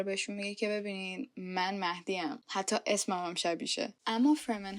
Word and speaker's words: مهدی: بودن که یو مادی مادی اصلاً شبیه کلمه مهدی نیست و وقتی که تمام کلمه‌ها رو دارن به عربی سلیس تلفظ می‌کنن برام خیلی عجیبه که چرا به جای مهدی دارن میگن مادهی و اصلا فرمن چرا